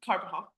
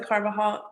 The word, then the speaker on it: Carbajal: Carbajal.